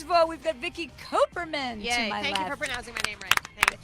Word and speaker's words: Kuperman: First of all, we've got Vicky Kuperman Yay. to my Thank left. you for pronouncing my name right.